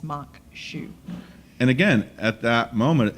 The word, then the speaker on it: maque choux: hmm what does that mean or try to pronounce it so for all you people out there in TV land it's maque choux and again at that moment it's they're engaged